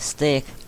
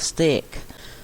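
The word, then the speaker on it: steak: คำ ว่า stake s t e a k stake เรา ไม่ ออก เสียง สก นะ คะ มัน คือ stake คำ ต่อ ไป เป็น คำ ที่ นัก เรียน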